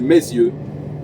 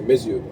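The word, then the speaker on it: Meyzieu: de lion en fait ça s'appelle mes yeux simplement voilà ça s'écrit pas pareil que mes yeux mais c'est mes yeux donc donc voilà je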